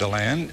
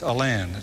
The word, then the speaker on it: Alan: alan and it's not a lawn it's a land that's the way that the arthurs pronounced it that's okay so now